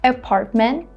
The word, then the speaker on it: apartment: Apartment. Instead of saying apartment, I'm saying apartment. I'm holding these 2 T sounds.